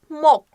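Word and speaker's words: 목: gereken tek yerli sözcük mok nasıl okunuyor şöyle belki duyulması zordur mok m o g Peki Mop ne demek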